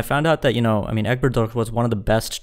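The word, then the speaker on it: Elbegdorj: Mongolia almost immediately because Egbert Doğ, am I pronouncing that right? I think I am. Elbigdorge, yeah. Yeah, Egbert Doğ.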